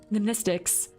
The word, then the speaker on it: mnemonics: Mnemonics, Class W, X, Y, and Z. Same Greek root as the word mnemonic. The M is silent.